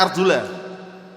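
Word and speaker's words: أرجلَكم: Wa arjulakum dan cucilah. Bacanya arjula. Kalau bacanya arjula artinya dan cucilah diikutkan ke tangan tadi. Tapi kalau baca Arjuni dan usaplah.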